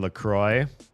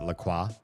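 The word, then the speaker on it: LaCroix: That would be like saying Lacroy. If you drink Lacroy and you pronounce it Laqua, because it it's spelled like the French word Laqua.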